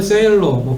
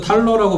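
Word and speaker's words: Thaler: 그리고 최근에는 이제 리처드 세일러, 발음을 세일러라고 발음하는 사람도 있고 리처드 탈러라고 발음하는 사람도 있는데, 아무튼 그 사람도 다니엘 카네만의 영향을 받아서 행동경제학을 한 사람인데 2016년이었죠.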